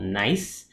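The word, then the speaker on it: Naiise: Okay, so I work for this Singaporean startup called Naisse. And Naisse is spelled N-A-I-I-S-E. It's just a colloquial way of saying the word nice, as in saying these things are nice.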